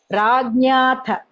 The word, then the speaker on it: राज्ञाथ: Only that jna I find some different pronunciation. Jna, it is hearing like that. It is jna. Rajnatha. Jna sound.